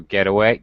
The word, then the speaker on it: getaway: compound noun form it always gets pronounced the same way with a high and then low stress uh pitch pattern baseball notebook door knob